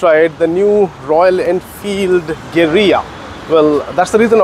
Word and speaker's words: Guerrilla: out and test ride the new Royal Enfield geria well that's the reason I was speaking it in Spanish Because the actual pronunciation of the word it's not gerilla it's actually Gera but yeah here in India we are going